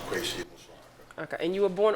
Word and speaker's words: Kwesi Amusuah Ackah: it's pronounced Kwesi Amusuah Ackah.